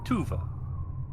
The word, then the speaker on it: Tuva: Tuva, spelled like it sounds, T U Va.